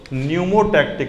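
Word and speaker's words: pneumotaxic: न्यूमोटैक्टिक। लेकिन स्पेलिंग क्या होता है? हाँ, PNE, वही न्यूमोटैक्टिक सेंटर।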